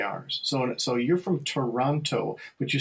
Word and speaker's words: Toronto: You sort of butcher that first, just like people from Milwaukee say Milwaukee. We just we get rid of that. I never noticed that about. It's very interesting. We just sort of get rid of that first syllable. We just sort of slur it like we're drunk. And yeah, it's true. It's very true. And Toronto because you're just tired of that syllable. You're just tired of it.